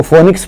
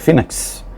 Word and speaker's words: phoenix: فینکس مطلب بعض لوگ اس کو فونکس پڑھتے ہیں، انگریزی لفظ ہے، فونکس پڑھتے ہیں بعض لوگ، لیکن اصل میں اس کا تلفظ ہے فینکس، اور اسپیلنگ ہے PHOENIX.